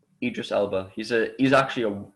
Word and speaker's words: Idris Elba: don't know it's a british crime series starring aegis elba who's actually is that how you say his name idris elba he's a he's actually an outstanding actor yeah